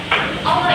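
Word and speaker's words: الله: Misalnya pada lafaz Allah itu bisa dibaca tebal karena sebelum lafaz Allah itu ada fathah. Jadi kalau sebelum lafaz Allah itu ada fathah, jadi disebut misalnya nih Allah ini dibacanya tebal.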